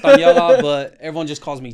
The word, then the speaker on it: Taniela: it kind of sounds so it's Taniela, but everyone just calls me.